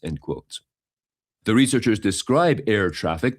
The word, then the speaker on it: ErrTraffic: The researchers describe air traffic, that is spelled ERRTRAFFIC, as requiring prior access